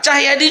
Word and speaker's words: Tjahyadi: Cahyadi, TJAHYADI, Yadi dibaca apa? Cahyadi juga.